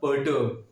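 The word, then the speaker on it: perturb: इसका जो प्रोनाउंसिएशन होगा वो क्या होगा? पर्टर्ब, पर्टर्ब, पर्टर्ब। आर साइलेंट होगा इसके अंदर, है ना।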